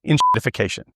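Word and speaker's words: enshittification: that word is called inshitification. And yes, it technically starts with the letter E, but given that the first syllable sounds like N, it's a good enough fit for that acronym as far as I'm concerned.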